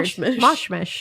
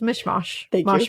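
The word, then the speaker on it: mish-mash: Well, you say mish mish. is mish mash mish.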